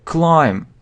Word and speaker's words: climb: Climb. Забраться. Значит, соответственно, he climbed. Там он забрался. He climbed up. Забрался. He climbed up. Climb. Забираться. Соответственно, B isn't pronounced. B не произносится.